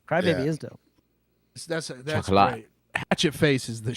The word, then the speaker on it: Chocolat: That's Chocolate. great. Hatchet Face is the shit. It's pronounced chocolate.